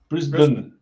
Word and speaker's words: Brisbane: It's the same. Brisbane. BRISBN. Brisbane.